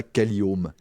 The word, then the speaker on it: Caliome: Alors là, on ne prononce pas OMH, on a fait un petit jeu de mots avec un anglicisme, on prononce ça Caliome. Caliome, parce que mais les locataires déjà. Home en anglais signifiant le logement.